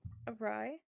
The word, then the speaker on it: awry: Did you pronounce awry weird? Did I? I might have said Ari by mistake.